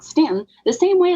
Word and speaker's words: Staunton: So yeah, people from out of town say Staunton, and it's really like Stanton.